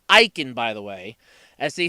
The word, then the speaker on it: Eiken: their list iechyd that's aik en and it's pronounced eicken by the way as they said multiple times